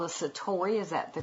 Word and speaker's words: Satori: you had quite an event that's called a Satori is that the correct way to say it yes yes Satori tell us what that is and what happens